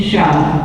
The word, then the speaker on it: Sia: Shah, as it's pronounced.